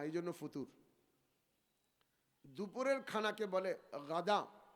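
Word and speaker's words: غداء: ফুতুর দুপুরের খানাকে বলে গাধা গাইন দাল আলিফ হামজা আবার কেউ গাধা গয়েন না গাধার সাথে শব্দ উচ্চারণে শুনতে একরকম শোনা যায় কিন্তু আসলে শব্দটা হল গাধা অথবা অন্য মাজদার থেকে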